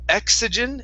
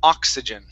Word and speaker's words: oxygen: so uh this word that o is going to be an ah sound at the beginning instead of exegen it's ah oxygen oxygen good one more